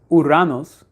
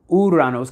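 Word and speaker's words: Ouranos: And the myth goes with Uranos in the mythology before Uranus. Uranos. Uranos kind of spelled like the arbor, the snake biting its tail in a way.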